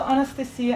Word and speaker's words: Anastasiya: So my name is Anastasiya. Oh, I didn't say it right. Almost right. Anastasiya is okay. I was close. Yeah, that was really close. So Anastasiya, and if you're thinking, what did you say?